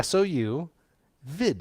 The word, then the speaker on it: sous vide: right and it's s-o-u-s with a silent s on the end not the first one or that'd be ohs it's sue sou vid v-i-d-e vid and it